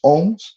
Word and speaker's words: Om: Eu vou tentar, o ohm, eles são 2 sílabas, o e que na verdade é um som meio N no sânscrito, mas tudo bem, vamos optar por M, tá legal?